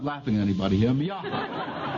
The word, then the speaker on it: Miaja: Now, I'm going to have enough trouble pronouncing them, much less identifying them. The first is Miaha. Now, I'm not laughing at anybody here. Miaja.